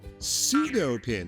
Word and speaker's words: pseudo-pin: Pseudo-pin, I think the grandmasters call it. But words with a silent P are tough.